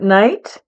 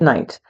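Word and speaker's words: knight: swords is also pronounced night. A lot of my students will say kicked. No, you don't pronounce the K. So this is night and this is night.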